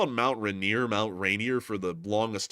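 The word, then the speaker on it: Rainier: out to Seattle and she said Mount Reneer and then I felt like an idiot instantly because I was like, I've been saying it wrong the whole time I've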